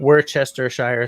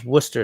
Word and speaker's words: Worcestershire: It's not Worcestershire sauce. It's Worcester sauce. Okay? So we can move right along. That's a pet peeve of mine. Why are there so many letters in that word that aren't pronounced?